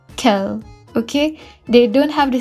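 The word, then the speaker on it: quel: singular singular or plural the pronunciation will be kel okay they don't have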